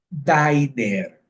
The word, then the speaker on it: diner: Y porque tiene una N, la pronunciación va a cambiar a diner.